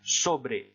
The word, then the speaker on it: sobre: Ensuite, vous avez sin qui signifie sans, sobre, on prononce bien le E final, sobre qui signifie sur, et plein de choses qui seraient à apprendre par cœur.